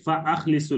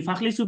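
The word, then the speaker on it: فأخلصوا: তো হামজা কাতঈ যখন হবে, হামজা কাতঈ উচ্চারণ করতে হবে, ফা আখলিসু লাহু দুআ, এটা বাবি ফাল। যদি ফাখলিসু পড়েন তাহলে বাবে দারাবা হয়ে যাবে, ফাদরিবু এর মতো, ফাখলিসু দরাবা হয়ে যাবে।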